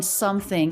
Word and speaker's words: something: the schwa vowel and the letter o in something is the uh as in butter vowel up here the letter